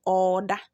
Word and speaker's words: Oreda: But when you are pronouncing that word, you will say order. Order. Order. Instead of the re, it will be double or, which is order.